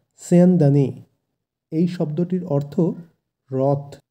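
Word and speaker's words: স্যন্দনে: এরপর আছে মহতি অর্থাৎ মহান, তারপর আছে স্যান্দানে। এখানে দন্তস্ব আছে যেহেতু প্রথমে, তাই শয়ের উচ্চারণটা হবে স, স কিন্তু নয় স, স্যান্দানে।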